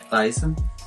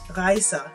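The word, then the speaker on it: rejse: Raisa. Raisa.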